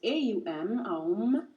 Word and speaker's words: om: a mantra which is om so o m pronounce a um um which is the most